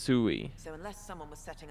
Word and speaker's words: Sui: pronounced Sui.